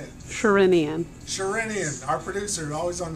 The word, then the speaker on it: Sherinian: No, I bought, now you got to pronounce the name for me. Derek Sherinian. Yeah, I don't know how to say it. Sherinian.